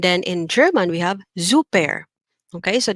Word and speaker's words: super: have zouper okay so you hear that the s is pronounced like a letter z super okay and the er at the end in english is er but in german it's air zouper okay then we have